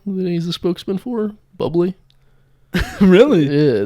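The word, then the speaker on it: Bubly: Bubbly. Really? Yeah, they say it's bubbly, not Bublé. Bublé. Not Bublé. Because it's spelled the same, right?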